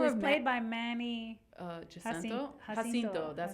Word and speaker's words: Jacinto: Jacinto, that's how you say it.